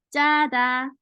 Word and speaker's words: 짜다: So when you pronounce the 쌍지옷 into 지옷 wrongfully, then it becomes 자다, is sleep.